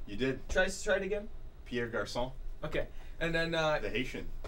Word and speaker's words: Pierre Garçon: Pierre Garçon.